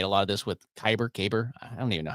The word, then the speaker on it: Kaiber: I made a lot of this with Kyber. I don't even know how do you say it? Let me know in the comments. How do you say it? It's Kaiber. That's the name of the tool.